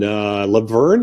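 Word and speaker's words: LaVergne: And I have the great pleasure to be speaking with Allisa Henley with AJ Bond Distillery in Laverne. Is that Laverne, Tennessee? Is that correct? That's correct. Okay, You pronounced fantastic.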